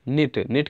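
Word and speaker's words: knit: formation होते हैं जैसे नेट का मतलब होता है बन्ना इसमें के जो है साइलेंट हैं तो इस मिनट का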